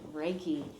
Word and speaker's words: Reiki: And then, Reiki. Did I say it right? Yes, you did. Reiki.